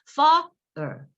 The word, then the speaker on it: father: 그런 발음으로 하시는 것이 바로 슈아 발음이 돼요. 그래서 father 이렇게 돼요. 정말 그러니까 제가 과장하는 것 같지만 사실은 그렇게 발음하셔야 되고 그렇게 들리셔야 돼요.